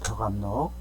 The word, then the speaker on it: 벽암록: 벽암록, 벽암록이라고 읽습니다.